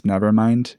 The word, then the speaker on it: NVRMND: But I think the best example of Witch House fashion, it's Nevermind. It's spelled like NVRMND, and it's an out-of-funk clothing line.